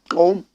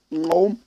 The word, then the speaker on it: Gqom: Koum. That's how they pronounce it. Koum. Koum. GQOM.